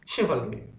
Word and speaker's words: chivalry: এবং চিভালরিটা, আমি এখানে চিভালরি বলি, বাট এটা সঠিক উচ্চারণ কি হবে দেখো তোমরা। Chivalry. শিভালরি।